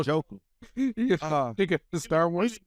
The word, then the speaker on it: Njoku: Evan Ingram, David Njoku, and Chikozam. David who? David Njoku. Okay, because you said Ndoku. No, That's what I wanted to hear. He's actually how Njoku.